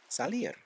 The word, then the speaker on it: salir: Spanish you'll use the word salir which sounds like the word sailor won't that be easy